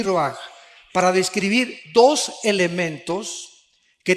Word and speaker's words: ruach: Aquí se usa otra palabra hebrea, que se escribe ruach, con R de Raúl, A-C-H, se pronuncia ruach.